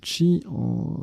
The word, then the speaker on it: qi: Le qi, on prononce également chi, l'énergie vitale dans les pensées chinoises et japonaises.